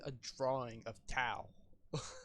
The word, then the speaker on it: Tao: Oh, I said Pow, not Tao, but yeah. Oh, Pao. No Tao. Oh. No, you're right. I pronounced it wrong.